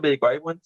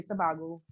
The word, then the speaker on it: Tobago: It's Tobago. Do a lot of people? I heard a lot of people say Tobago. A lot of people say Tobago.